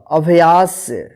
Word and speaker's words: अभ्यास: इस क्या पढ़ेंगे व्यायाम अ अद या स अभ्यास आ आद च य